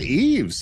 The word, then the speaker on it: Eves: Is it Eves, Derral? It is Eves, yeah. I got it right.